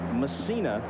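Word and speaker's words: Mussina: messina in the game and messina is the way he prefers to have it pronounced all the controversy last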